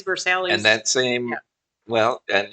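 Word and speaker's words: Versailles: Um, and there's a street that I would call Versace. Sure. But I was told by someone from Kentucky, no uncertain terms, that that's Versalis. And it's true. It is Versalis.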